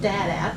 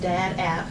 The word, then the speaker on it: DDAAT: I'm here to talk about my app, which is called Dad App. Mm-hmm. It's pronounced Dad App, but it's spelled DDAAT.